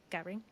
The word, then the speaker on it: Gehring: I think you say your last name Garing is that right Garing Garing Garing yes okay I'm G to